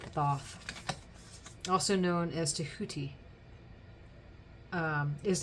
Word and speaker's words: Thoth: You know, they pronounce it Toth, but I pronounce it Thoth.